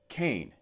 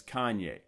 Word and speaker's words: Kanye: out of Champaign-Urbana, that it was pronounced Kane. Althea, no, it's Kanye. Look how it's spelled.